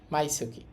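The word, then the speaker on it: 毎月: এখানে উচ্চারণ হবে সুকি। মাই সুকি। মাই সুকি হচ্ছে প্রতিমাস।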